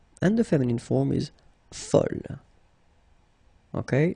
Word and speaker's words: fol: And here is the second masculine form, and it's folle. And the feminine form is folle. Okay, same thing here, same pronunciation, but then you write them differently.